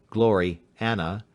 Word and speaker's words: Gloriana: Gloriana, pronounced as two words, Glory Anna, being the work of